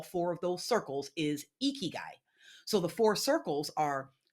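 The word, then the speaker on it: ikigai: And and Jamal, you may be familiar with this term, but there's a term called eeky guy. Have you heard of that term before? No, I haven't. Okay, I'll spell it.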